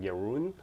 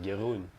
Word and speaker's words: Jeroen: sometimes I try to say your name in English. Then it sounds really weird because it's like Jeroen. But I should just pronounce it like the Dutch way, like Jeroen.